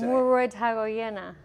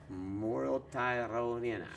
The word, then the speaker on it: Muruetagoiena: That's Muruetagoiena. Muruetagoiena.